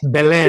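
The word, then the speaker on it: Belén: Can you tell us how do you pronounce that name? Yes, the Belen. name is Belen, but Belen.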